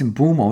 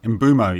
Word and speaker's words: Mbeumo: And Mbeumo, I think when he has played Arsenal previously, he's troubled them as well. Also, forgive me, I keep saying his name wrong. It's Mbeumo, isn't it? Mbeumo, yeah.